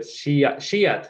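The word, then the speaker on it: स्यात्: Shyat.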